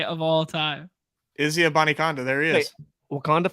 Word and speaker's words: Abanikanda: Izzy Abanikanda. There he is. Wait, Wakanda forever? What? There you go. Izzy. But it's like spelt like Israel. Like it's it's not pronounced Izzy.